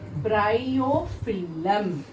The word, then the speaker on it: bryophyllum: o p h y double l u m bryophyllum how you have to pronounce that b r y o p h